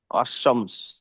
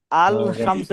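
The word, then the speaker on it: الشمس: শুরুতে যদি আলিফ লাম আসে কি হবে? আশ-শামস। হ্যাঁ, এখানে আলিফ লামটা মানে লামটা সাইলেন্ট হবে। আল শামসু এরকম হবে না, আর শামসু।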